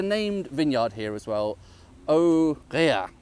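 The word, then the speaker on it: Aux Réas: Aurea, with an S on the end, which I don't think I should be pronouncing, should I?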